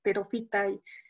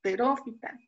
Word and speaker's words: pterófita: Que sea hemicriptofita y pterofita. No, y aquí justo aprendí que la pronunciación que hago siempre está mal, ¿no? Es caméfita, hemicriptofita, criptófita, pterófita, fanerófita. Yo siempre lo pronunciaba mal.